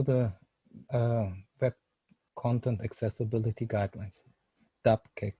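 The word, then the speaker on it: WCAG: web content accessibility guidelines dubcake it's normally the abbreviation is pronounced normally dubcake and this is then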